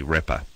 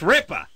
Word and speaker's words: Ripa: You're mispronouncing the person's last name. It's not Ripper.